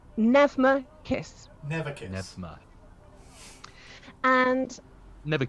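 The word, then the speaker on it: Pnevma: p f v e it like neva not that you would know that now but it is a silent p navma kiss never kiss and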